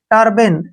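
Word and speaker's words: turban: एन इसको कैसे पढ़ेंगे टी का उच्चारण ट करेंगे यू आर का उच्चारण र होगा सीधा बी को हम ब पढ़ेंगे और ए का जो है ए हो जाएगा और एन का न टर्बन ऐसे पढ़ेंगे इसको टर्बन ठीक है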